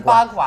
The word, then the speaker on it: bagua: Am I pronouncing it correctly? Yes, the bagua.